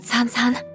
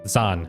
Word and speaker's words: Zan: I already forgot how it's pronounced. Was that it? I'm sorry for worrying you, San-san. Zan. It's a Z, not an X.